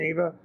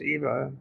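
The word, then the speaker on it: Ewa: sorry about the pronunciation Eva or I think it's Eva I think the W is a v in 1967 for failing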